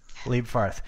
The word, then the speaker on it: Leibfarth: Leibfarth. Evy Leibfarth is a... What was that, Lewis? I was going to ask if it was Evy, not Evy. It's Evy, right? It's Evy, yeah. Evy Leibfarth is a U.S.